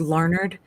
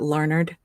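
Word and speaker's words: Larned: and there is one it's called larnard now it's spelled l a r n d but um people in Kansas call it larnard um you know it's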